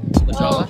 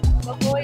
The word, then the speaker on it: La Jolla: We're the children's pool here in, how do you say it? Jawa? La Jawa? Oh, no. Is that how you say it? La Jolla. La Jolla? La Jolla. We're in La Jolla.